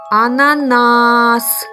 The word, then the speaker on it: ананас: на і третій нас давайте ще раз промовимо це слово а на нас ананас який склад був наголошений вірно третій склад звуки Ми чуємо та